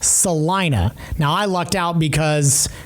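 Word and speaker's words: Celina: A which a lot of people would call Selena. I had a friend in in college spelled her name the same way. It was pronounced Selena. It's pronounced Salina.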